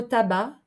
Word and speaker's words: tabac: en français se prononcer dans le mot tabac le C ne se prononce pas se lire ce livre